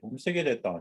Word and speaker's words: wahkotowin: He said, wahkotowin, he'd say, wahkotowin. You say it like this.